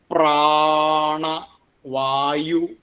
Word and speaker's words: പ്രാണവായും: പ്രാ കൂട്ടക്ഷരംആണല്ലോ രണ്ടും വ്യഞ്ജനാക്ഷരങ്ങളാണ് അപ്പോ പ്രാ അത്ര ശക്തി കൊടുക്കണം പ്രാണ വായു വായും പ്രാണവായും അടുത്തത് അഭിയമയ അവിടെ ഭി